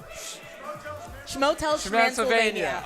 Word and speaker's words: Shmotelshmansylvania: I think it's Hotel, Shmotel. Shmotelshmansylvania.